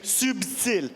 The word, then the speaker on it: subtile: français on dit subti il y a un B on prononce le B subtile en anglais SLE il